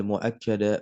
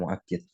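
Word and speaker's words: مؤكَّد: taukidi annahu yatb Al muakkada bifathil Kaf nah hukum taukid bahwasanya taukid mengikuti muakad ya muakad bifathil Kaf kafnya difthah menjadi Muakkad bacanya bukan muakid muakad berarti Isim yang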